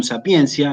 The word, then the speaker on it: sapientia: apostólica insisto veterum sapientia se escribe veterum sapientia se pronuncia veterum sapiencia en latín eclesiástico y justamente lo primero